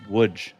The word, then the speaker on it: Łódź: Now, that is spelled Lodz, but it is pronounced Łódź.